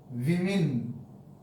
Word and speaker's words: women: explanation here enough women is pronounced as i we mean is pronounced pronounced here the o is pronounced as i in women the o is pronounced